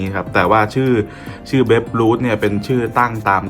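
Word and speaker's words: Babe Ruth: แล้ว คำ นี้ อ่าน ว่า เบ ด้วย นะ เบ Root นะ ครับ เบ Root เนี่ย ถ้า หา ข้อ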